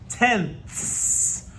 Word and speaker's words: tenths: The first one, it sounds a lot like tens, but it has a TH at the end. It's tenths. And you have to have that TH sound at the end, or you're not talking about the right place value.